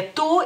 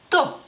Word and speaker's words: tu: Tú, se escribe, digamos que igual como, se escribe en español, solamente no ponemos el acento, y la U es un poquito más corta porque es una U corta en lituano.